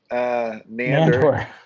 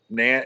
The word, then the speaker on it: Nandor: Well, how Nander? Nandor.